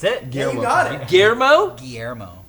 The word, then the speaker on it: Guillermo: Guillermo?